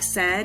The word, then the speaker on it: said: did in step four map the word s d let's put a heart over the AI cuz that's the tricky part we have to remember